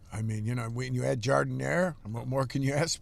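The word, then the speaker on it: giardiniera: But here in Chicago, it's Jardiniere. It's not French. The way you say it sounds real expensive. You could like add a few dollars to the price the way you pronounce it.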